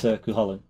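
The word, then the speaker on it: Cú Chulainn: It's Cuchulainn. Sorry. The pronunciation. Good.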